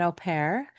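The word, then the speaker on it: au pair: And I'll contrast your story a little bit because we didn't have a nanny, but we did have an OPAIR, which is not not everybody's in America is familiar with OPAIRS, but AU P A I R is how it's spelled.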